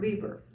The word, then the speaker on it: Leiber: who makes handbags called Judith Leiber or Lieber? Yes, Lieber. Lieber, okay.